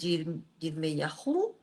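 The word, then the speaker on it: ירמיהו: Y buscamos la palabra en hebreo de Jeremías, que es Yirmeyahu. Se escribe así.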